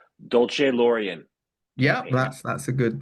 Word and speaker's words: Dolcelorian: Let me get this pronunciation correct. Dolce Laurian.